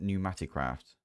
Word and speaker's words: Pneumaticraft: Anyway, today we're going to get into everything Pneumaticraft. So, and it's spelled with a P, by the way, at Pneumaticraft.